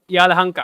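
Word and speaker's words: Yelahanka: से काफी पास है यांका यालाहंका okay that is a basically location याहंका या या यालाहंका that is a pronunciation so north Bangalore side में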